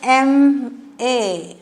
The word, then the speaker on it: MA: But this MA, we pronounce it as MA.